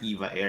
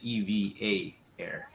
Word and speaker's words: EVA Air: was corrected it was it's not eva air it's eva air oh no so it's